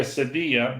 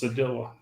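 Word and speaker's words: cedilla: from that what a sedilla spell it for me c-e-d-i-l-l-a what letter yeah if it was Spanish it'd be a Sadia but it's not so it's sadilla uh how fast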